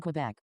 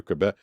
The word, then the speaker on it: Quebec: I know that because I went to Quebec. And I think you're supposed to say, I think Americans say Quebec, but I think if you're from there, you live there, you speak the language, they say Quebec.